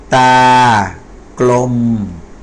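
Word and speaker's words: ตากลม: ม้า ดู นะ ครับ อ่าน ว่า ตาก ลม อัน นี้ ไม่ เหมือน กัน นะ ครับ อัน นี้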